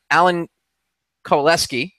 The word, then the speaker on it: Alan Kowaleski: and a special guest, Alan Kowaleski. Am I pronouncing that right, Alan? Yes, you are.